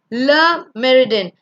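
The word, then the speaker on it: Le Méridien: Le Meridien. It's a French word, so L-E in French is le.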